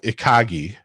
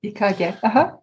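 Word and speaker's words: 生き甲斐: It's called ikagi. And it means the art of moving forward in small steps. I think is probably a bad definition of it. Ikage. How is it? Ikagi? Ikage. Ikage. Okay.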